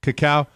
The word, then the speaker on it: cacao: Now, your company's name is it called Naya, and you're currently perfecting a cacao-based, did I pronounce that correctly, or is it cocoa? Is it the cacao bean? Cacao.